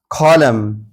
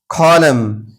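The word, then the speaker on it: column: इसी तरह कॉलम, कॉलम, यहाँ भी देखिए एम के बाद एन आया है तो ये एन साइलेंट होगा यानी नहीं पढ़ा जाएगा, एम पर आवाज़ को ख़त्म कर देंगे, कॉलम।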